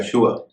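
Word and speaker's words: sure: कि शगर इसी तरह एस यू आर E show या शव इसका उच्चारण भी श होता है ना कि स इससे जुड़े जो शब्द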